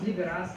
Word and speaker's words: liberast: Because I think the term that is used by Russian media is liberast, which rhymes with fair, basically.